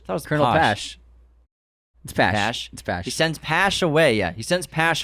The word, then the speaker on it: Pash: as well as he helps Oppenheimer by sending Posh away he sends Posh to well it's pronounced pot Pash is that the hash it's that was Colonel she sends Pash away yeah he sends Pash away to Europe